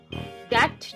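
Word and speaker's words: debt: अब इस वर्ड में जब बी को हमने प्रोनाउंस ही नहीं करना तो बी लिखा ही क्यों। डेट जब बोलना है तो spelling simple C डी ई टी डेट कर देते, ये बी बीच में घुसाने की क्या जरूरत थी।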